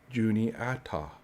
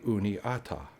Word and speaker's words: Juniata: the unu ata thus the river became pronounced as the modern juni atta in lieu of the uni atta but their name meant